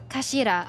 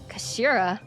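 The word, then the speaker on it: 頭: end of the hilt it's written as head in Japanese but it's pronounced as Kashira I believe Kashira so Mr ahi's words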